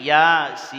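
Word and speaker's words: يس: Umpamanya Yasin, di atas ya itu pendek, kemudian sinnya yang ada garis panjang berarti Yasin. Jangan terbalik, Yasin, terbalik itu.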